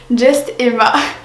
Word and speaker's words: Juste Emma: sur votre petite youtubeuse Just Emma. Tout le monde dit Just Emma, c'est justement à prononcer à l'anglaise.